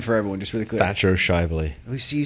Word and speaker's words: Thatcher Shivley: Thatcher Shivley.